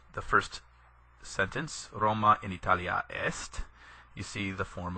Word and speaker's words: Italia: major grammar features first you see in line one two different forms of Italia Italia with a long a and Italia with a short a on the end the difference between these